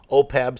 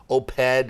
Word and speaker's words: OPEB: what is this thing, OPEB? Some of them mispronounce it as OPED and other things, but the easiest way to think about it is that it is health insurance for municipal employees.